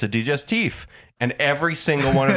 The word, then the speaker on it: digestif: So they say to the waitress, "Is it actually pronounced digestif?" And she goes, "Yes."